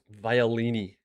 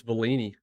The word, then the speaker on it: Bellini: Violini or what? I add an I in there. Try to pronounce it like violin. It's Bellini. Said Violini.